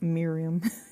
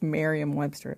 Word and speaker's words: Merriam-Webster: Merriam-Webster, is it Merriam? I think it's not Miriam. It's Merriam-Webster, whatever.